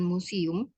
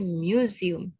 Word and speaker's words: museum: museum wasit by ya kemudian bacanya itu bukan museum tapi museum karena u itu dibaca Apa ada ada yumum that mum mum that